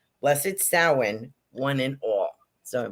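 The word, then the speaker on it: Samhain: we would say uh samine is actually sin it's pronounced sin s o w- i n uh so that's how it's pronounced in the Celtic world and I have a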